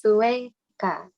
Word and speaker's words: sueca: The C, C Oh, yeah. sounds like a K. Only for K, Ko, Ku. But then we use se, si. Sounds like an, here it sounds like a K, but then it sounds like an S. Ka, ko, ku, se, si. Sue. So it's sueca.